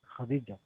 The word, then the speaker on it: Khadija: This one is Kha. You see K with H. It's called Kha. Kha, like Khalid, like Khaire, right? Another one? You can give us another Kha? Huh? Khadija.